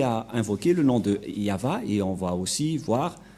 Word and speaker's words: Yahvah: mais la vrai lecture de ce terme c'est yava je vais vous apprendre directement mais tout d'abord